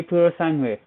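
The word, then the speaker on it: Purosangue: let me show you that's that's how you say it Ferrari pure Sunway whole song way yeah it's an Italian name so but it looks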